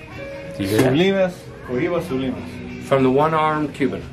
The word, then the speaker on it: Oliva: What's the proper way to pronounce these Cubans? Oliva. Do you hear that? Sulimas. Oliva Sulimas.